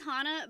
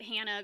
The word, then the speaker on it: Hana: then everything sucks well it is hana but people pronounce it hannah because that's what my mom always pronounced it as so it's spelt hana but if you call me hannah i do not care you know i'm not gonna demand people start calling me hana look at all the